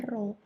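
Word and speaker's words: ρ: Jadi ini tuh dibacanya Rho ya. Rho. Nah, ini bacanya Rho.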